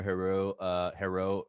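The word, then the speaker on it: Herro: I don't fucking know how to say his last name, dude. It's Hero. Yeah, whatever the fuck his name is. I've been calling him Tyler Haru for like ever, dude.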